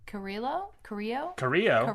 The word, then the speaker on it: Carrillo: All right, next match is Humberto Carrillo. Spanish. I can't see very far. You don't pronounce the L's.